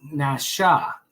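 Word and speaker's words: נשא: It's actually pronounced Nasha. Na-sha.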